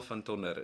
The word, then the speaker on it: van Tonder: All right, Daniel van Tonder. It's very Afrikaans.